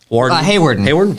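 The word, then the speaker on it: Hawarden: West Sioux, Hardin, how do you say that? Hayward. Hayward? Yep. I think Hayward.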